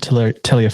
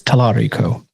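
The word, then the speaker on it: Talarico: I mispronounced the man's name earlier. It's James Tarico. Okay. Not Tiller. It's Tarico.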